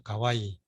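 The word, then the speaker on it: 可愛い: 가해 커아이 그래서 근데 커아이인데 일본어도 이걸 똑같이 써가지고 발음은 좀 다르죠. 가와이 이렇게 이제 형용사 쓰는데 우리말에서는 귀엽다, 뭐 아름답다, 예쁘다, 사랑스럽다, 뭐 이렇게 말하죠.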